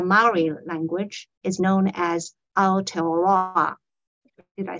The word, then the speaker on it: Aotearoa: which in the Maori language is known as Aotearoa.